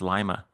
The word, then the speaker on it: Lima: It's actually pronounced Lima. Lima. What did I say? Lima. Lima. Lima. Well, the one in South America is Lima, right? But It is. this Yeah. one's more like lima bean.